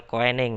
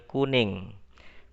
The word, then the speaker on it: Koenig: Jangan Samuel Koenig ya, tapi bacanya Samuel Kuning.